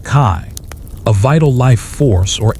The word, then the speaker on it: qi: One quirky or fringe tidbit about ancient Chinese beliefs is the concept of qi, pronounced kai, a vital life force or energy that flows through all things.